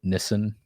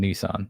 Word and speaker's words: Nissan: which by the way Orlando Blooms calls it Nissen the entire movie. Nissen um which is probably how it's pronounced but whatever. I'm American. Nissan that's what it is. Deal with it.